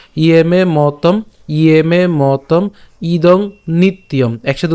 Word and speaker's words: নিত্যম: তাহলে ইয়ে মে মতম, ইয়ে মে মতম ইদং নিত্যম, নিত্যম উচ্চারণটা কেমন করলাম, নিত ইয়ম।